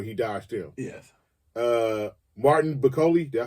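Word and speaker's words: Bakole: Martin Bakoli, did I say that right?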